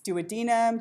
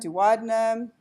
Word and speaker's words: duodenum: And by the way, nobody, not even an anatomist, can agree on how to pronounce duodenum. It's duodenum, duodenum, and people argue about it, about how to.